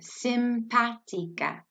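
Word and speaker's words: simpático: word together simpatico and just know that you are slowly gonna pronounce every little letter in that word with Spanish we always look at the every little letter and kind of say it all together simpad tika and if you want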